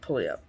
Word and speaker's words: Puyallup: That is, I would never pronounce that Puyallup. I think that's right. It sounds correct. Somebody correct me, I but definitely would have slaughtered it, so. I think that's it. That sounds right. I think I'm pretty sure it's Puyallup.